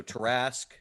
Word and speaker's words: tarrasque: a holding cell so tarask task rhymes with tarask let's see he also has had dealings with the goddess mask uh so that that rhymes with tarrasque um yeah i i